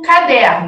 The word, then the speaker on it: caderno: Eu tenho a palavra, por exemplo, caderno. Deixa eu escrever aqui em preto. Caderno. Essa palavra tem uma sílaba tônica. Caderno, caderno, caderno. Quem é essa sílaba tônica? Der.